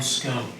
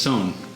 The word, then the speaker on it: Sohn: Or Cuscio, I wrote down scone. Yep. It's Sohn. S-O-H-N.